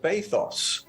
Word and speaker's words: bathos: um but it's uh bathos and I it obviously rhymes with pathos okay and I I